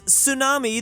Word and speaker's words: tsunami: just look at this tsunami the t is silent honest the H is